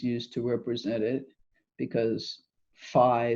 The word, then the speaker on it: Phi: to represent it because Phi sounds like the beginning of flux our fee I suppose if we pronounced it correctly and that's just defined